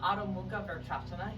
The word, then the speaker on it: Adho Mukha Vrksasana: To develop Adho Mukha Vrksasana, handstand, that's how you say it in Sanskrit,